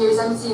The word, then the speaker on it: Yosemite: We are at Garcia Point in Yosemite National Park, Day 2. Yosemite. You know why we're saying Yosemite? Because it's spelled Yosemite.